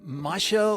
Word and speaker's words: Musho: and it's called mush I I I like to pronounce it mush but you can say Masha or m whatever you like and well we're making